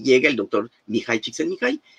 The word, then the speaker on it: Csikszentmihalyi: eso me ha pasado, y mi nombre se pronuncia así, Mihai Csikszentmihalyi, pero si se les complica mucho me pueden llamar Miki.